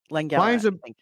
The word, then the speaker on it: Langella: When the evil Skeletor, Frank Langella, am I pronouncing that right? It feels right. Yes. Langella.